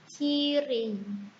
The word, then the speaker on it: Kirey: Oke, yang pertama pada kata Kire itu mempunyai dua silabel, yaitu silabel pertama ki, silabel kedua re. Bacanya Kire.